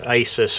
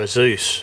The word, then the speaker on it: Asus: I uh I bought a cheap uh Asus or ISUS as uh it seems to be pronounced, but I'm calling it an ASUS um laptop from Curry's a couple of days ago.